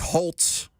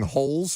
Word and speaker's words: Holtz: So we've already vetted both of these individuals in Nick Holtz. I feel like I've been saying Holes until we got the official pronunciation from the team yesterday. Holtz, even though there's no T, the former Jags assistant.